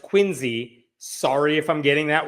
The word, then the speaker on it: Quincy: This story involves the city of Quincy, Massachusetts, which I have been told is pronounced Quincy.